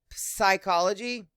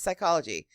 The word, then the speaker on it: psychology: So, psychology, that's not how you say it. It's just psychology. That's a rough word for somebody who's dyslexic because it's like, but there's a PS, but they don't hear it phonetically.